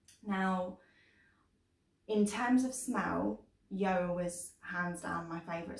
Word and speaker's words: Yoah: So position number 4 is a company called Yoah, which is spelled Y-O-A-H.